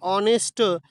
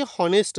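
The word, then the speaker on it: honest: ते कशा पद्धतीनं करतो तर ऑनेस्ट अशा पद्धतीनं करतोय, न की हॉनेस्ट एचने करत नाही तर कशाने करतोय ओने करतोय.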